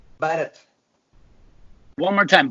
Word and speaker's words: Bharath: By the way, first, how do you pronounce your name? Bharath. Bharath. One more time, Bharath.